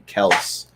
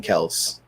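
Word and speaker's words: Kelce: clip today of him saying no it's actually kels like what they do needs life because i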